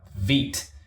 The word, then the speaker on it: Vite: go to the website vit is the French word for fast okay so um some some may pronounce it as Vite but um it's actually